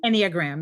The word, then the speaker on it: Enneagram: Enneagram? Enneagram.